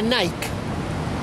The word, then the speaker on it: Nike: está haciendo Okay por un lado tiene a Nike que en inglés se pronuncia Nike por si acaso no pero yo le digo